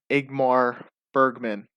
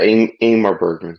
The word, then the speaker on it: Ingmar Bergman: So, my friend, are you ready to jump into Igmar Bergman? I'm pronouncing that correctly. Stop me if I'm not, right? Yeah, Ingmar Bergman.